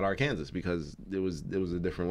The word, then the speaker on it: Arkansas: and Arkansas, Arkansas is spelled Arkansas, but it's pronounced Arkansas because one was a French colony and the other one was American. That's why they're pronounced differently. Kansas and Arkansas, but it's pronounced Arkansas.